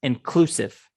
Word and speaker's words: inclusive: inclusive all inclusive and hear the word inclusive second syllable stress inclusive inclusive okay a hotel